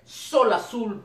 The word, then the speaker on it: Xol Azul: de verdad muy profesionales el nombre de la banda es solo azul van y se escribe con x solo así así que